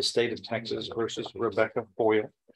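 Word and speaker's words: Foyil: of Texas versus Rebecca Boyer am I pronouncing it correctly like aluminum foil but it's f-o-y-i-l and in each of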